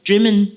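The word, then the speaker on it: Drymen: a place in Scotland cult dreamin it's pronounced is spelled dry men and lots of dreaming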